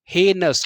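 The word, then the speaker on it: heinous: हे और आई यहां पर रहेगा साइलेंट। क्या रहेगा? साइलेंट। अब पढ़िए हेनस।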